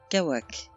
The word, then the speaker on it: Cauac: Kawak, prononciation Kawak.